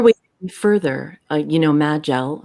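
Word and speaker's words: Majel: further uh you know magill and some people pronounce it may gel there are nine or ten different pronunciations of that name but she said uh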